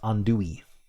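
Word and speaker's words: andouille: Pronounced Andoui according to Google.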